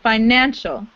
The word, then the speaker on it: financial: Emphasize the middle. Financial.